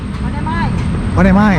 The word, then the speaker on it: Onemai: Bacanya Onemai atau One Mei? Onemai.